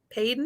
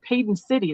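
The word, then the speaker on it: Paden City: probably mid 1930s uh padon is p a d en glass I think it's pronounced Peyton peyon could be Peyton but I'm not I'm not sure I'm a West coaster so every and I'm just thinking I know it sounds really familiar but I think that's how I've heard it pronounced but don't SAR by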